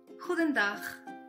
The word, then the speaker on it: Goedendag: La G, por ejemplo, suena gutural, fuerte y decidida. La combinación de vocales O, E suena como nuestra U hispana.